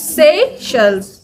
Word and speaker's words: Seychelles: sells I'm from seashells but it's pronunciations let's say yes not with that twang I'm getting stuffy but it's Seychelles but because we are